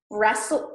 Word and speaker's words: wrestle: listen has a t wrestle wrestler also a t mortgage mortgage okay apostle